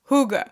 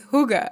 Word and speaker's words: hygge: concept called Huga and it's spelled h y g g e but it's pronounced Huga and actually it was